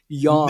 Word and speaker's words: yang: Yin and yang, like YANG. And that's kind of how you pronounce it, So that's, now we know how to say. Yang is sort of like an Americanized. We're really mispronouncing it.